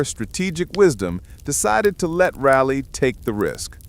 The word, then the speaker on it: Raleigh: Our tale begins with Sir Walter Rally, pronounced Raleigh, though he himself would probably insist on something more dramatic like Rory.